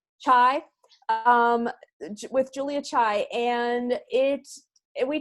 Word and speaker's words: Chai: Chai.